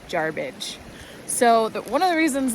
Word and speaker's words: Jarbidge: But rest assured, no matter what sixth generation you're talking to who might try to convince you otherwise, it's never been Jarbridge, just Jarbidge.